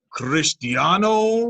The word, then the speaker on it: Cristiano: do me a favor roll your r cristiano really christian ronaldo all